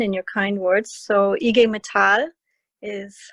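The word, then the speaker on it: IG Metall: introduction uh don and your kind words so ige mithal is how you pronounce um the german metal workers union in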